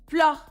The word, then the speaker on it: fleur: Fleur. Fleur. This is the French pronunciation. Fleur.